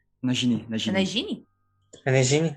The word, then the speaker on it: Nagini: Ai, a Regine, é. Tipo, É, né? É Nagini. Nagini? a Regine, é, a cobra. Nossa, você pronuncia errado.